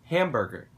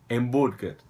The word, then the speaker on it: hambúrguer: Eu vou falar hambburger em vez de falar hambúrguer.